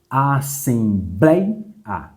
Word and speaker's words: assembleia: Opa, já identifiquei a sílaba mais forte. Essa aqui. Essa sílaba é a última, penúltima ou antepenúltima? Vamos contar? Última, penúltima, antepenúltima. Ou seja, a penúltima sílaba é a mais forte. Uma, duas. Então, de fato, é uma paroxítona.